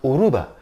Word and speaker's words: Yoruba: know i i i i wasn't even aware that it was yoruba because the why is silent maybe because for a long time they or they speak yoga with a spanish accent so it's uruba aruba